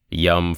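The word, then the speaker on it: Yam: Rum is the syllable for fire, yum for wind, and hum for space. All these bijas rhyme with thumb, though I should take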